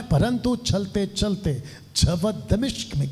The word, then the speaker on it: दमिश्क: इसका ये जो सफर था दमिश्क, अभी तक हम लोग कुछ और बोलते थे, लेकिन ये राइट प्रोनाउंसिएशन है दमिश्क और दमास्कस, ये इसका इंग्लिश शब्द है दमास्कस।